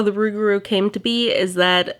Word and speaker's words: Rougarou: An alternative pronunciation of Rougarou is loup-garou, which means man that turns into a wolf.